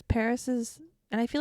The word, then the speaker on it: PVRIS: So then I listened to Paris all day. Very nice. For the longest time, I didn't know that's how you pronounce their name because it's PVRIS.